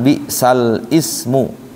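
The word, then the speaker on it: bi'sal-ismu: Bacanya bi salismu, lamnya kasrah. Jangan bi sal ismu, tapi bi salismu.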